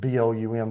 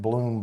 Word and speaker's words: Blum: i say blum texas at blum they pronounce it bloom but i'm grammatically correct um they're not so